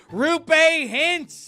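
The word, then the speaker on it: Roope Hintz: I betrayed myself by giving it multiple pronunciations in one. Rupe Hintz is the high-flying centerman for the heavyweight team, the Dallas Stars.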